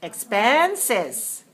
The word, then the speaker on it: expenses: have a few words the first one is expenses expense is three syllables stress the second and the next word